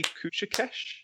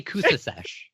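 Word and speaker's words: Cusicesh: Pronouncing C's has rules. Depending on what vowel follows it determines whether it's a C or Do tell, Professor Feather. So I believe CA is ka, CE is s, CI is I believe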